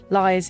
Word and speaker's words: Lyre's: Lyre's is l y r e s, like the lyre bird, the copying bird.